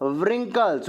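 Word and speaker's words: wrinkles: का या बैकवॉश आठ रिंकल्स रिंकल्स में डब्लू साइलेंट है ज बी डब्लू के बाद आरा आएगा डब्लू साइलेंट हो जाएगा आप भी कॉज्ड रिंकल्स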